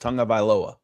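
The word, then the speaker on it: Tagovailoa: It says it's spelled tag, but you pronounce it tongue. So if you remember that, it's just Tonga Vailoa.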